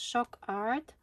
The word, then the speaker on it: Shokart: And shock art, pronounced shock art.